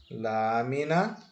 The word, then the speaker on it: lámina: a anti penúltima sílaba agora qual é a sílaba tônica de lâmina Essa é bem fácil onde é que tá o assento isso está no lá agora essa e se